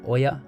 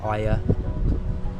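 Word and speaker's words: Oia: a hike from F to Oya I think it's pronounced Aya wow just check out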